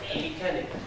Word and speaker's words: mechanic: Some words like mechanic. Mechanic. Has the letter CH. But it's pronounced. Mechanic.